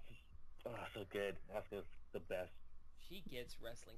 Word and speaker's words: Asuka: Okay, first off, the U is silent. It's just Asuka.